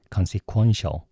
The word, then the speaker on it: consequential: consequential 이라고 얘기해요. quo라고 발음하세요. consequential 이렇게 얘기해요.